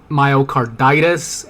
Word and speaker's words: myocarditis: and um her Cardenas it's pronounced myocarditis and pericarditis um yeah I mean